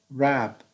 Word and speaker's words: wrap: is rap rap so the w is here is silent we don't pronounce the letter w rab like the word write rab wrap so here we have